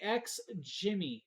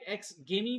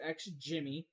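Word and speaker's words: XGIMI: next up is the X Jimmy that's right X Jimmy now you may say it may look like X gimme but it's actually pronounced X Jimmy this is the MoGo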